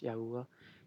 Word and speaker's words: Yahweh: yah yah is just another spelling but it's pronounced Yahweh is His holy name the only name of